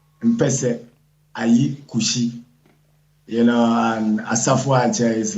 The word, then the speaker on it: Asafoatse: My name is Asafoatse. Mpese Kushi. You know, and Asafoatse is like a warlord.